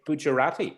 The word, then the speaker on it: Gujarati: do i say it right if i say gujarati is that is that your local language yes